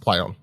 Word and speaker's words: Plaion: It's spelled Plaion, but pronounced Plaion. Plaion is a leading independent developer and producer of